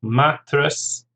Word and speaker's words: mattress: Mattress, 2 syllables, stress on the first, mattress.